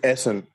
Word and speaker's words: Essen: say your name bro it's Essen Essen say it one more time say one more time so son likes like the sun yeah dope got it